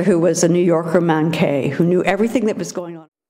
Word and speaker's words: manqué: a college professor who was a New Yorker manque who knew - Manque.